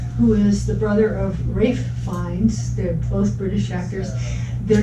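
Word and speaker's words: Ralph Fiennes: is the brother of rafe fines they're both british actors they're just old man finds kids yeah that's right their names are not spelled the way they're pronounced but i am pronouncing them correctly after those yeah but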